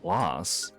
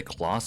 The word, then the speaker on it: Claus: Clauss. Lucas's brother. Did I say Clauss? I think it's pronounced as Claus.